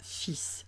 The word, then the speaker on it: fils: la même façon et se prononcera fils. Un fils, des fils. Des fils, quant à eux, là, on a mis au pluriel. On dit un fil ou des fils. Mais de toute façon, même au pluriel, vous avez vu, j'ai mis le S en gris parce que le S est muet.